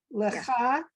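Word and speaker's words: לכה: That's a ch. Okay, lecha, Yeah.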